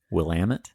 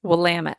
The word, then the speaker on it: Willamette: the college are all willamette willamette willamette and she points out rhymes with damn it and you know that